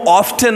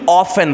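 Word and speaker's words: often: और ऑफ्टन को ऑफ्टन नहीं ऑफन बोलते हैं, ऑफन ऑफन ऑफन, ऑर्फन जैसा। तो प्रॉपर प्रोनाउंसिएशन आपके इंग्लिश को इंस्टेंटली एलिवेट कर देती है।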